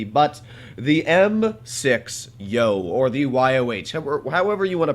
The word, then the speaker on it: Yoh: the M-VI-Yoh, or the YOH, however you want to pronounce it. I've been told it goes as Yo, but, yeah, it sounds kind of weird, especially for an American design.